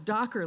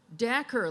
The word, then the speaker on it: Dacher: So I thought it was Dacher, like Dockers that you wear, but turns out it's Dacher, like snacker. Dacher Keltner.